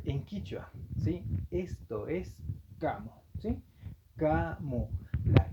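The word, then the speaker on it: kamu: Sí, recuerden que todas las letras cas eso debe utilizarse como suena la c de casa.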